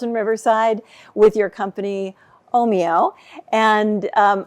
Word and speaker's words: Ohmio: company omo and um I hope I'm pronouncing that right by the way is that the right way do you say it could you say it for me again Oho Oho okay so oh moo okay sounds a little